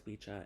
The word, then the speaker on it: Wicca: in the speech uh Wicca properly pronounced as wicha is the old word